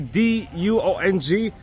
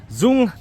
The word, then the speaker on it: Duong: Yes, the D-U-O-N-G, Duong, as they pronounce it in Vietnamese, but let's say Duong because we're actually Westerners.